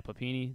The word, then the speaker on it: Papini: Yeah, Papini.